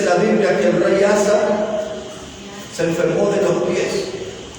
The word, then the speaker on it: Asa: Él se llamaba Asa. Así como se escribe, A-S-A, rey Asa.